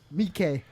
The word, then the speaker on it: Takashi Miike: I like Takashi Miike. Miike.